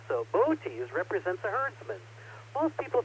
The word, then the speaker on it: Boötes: Miss Carolyn's constellation of the week this month is Boötes. It looks like it's spelled boots if you look at the spelling, but there's an umlaut over those O's. So Boötes represents a herdsman.